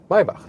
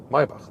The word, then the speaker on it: Maybach: Maybach, listen and repeat. Maybach, that's the German lesson for today, because the CH we don't pronounce like k, but k.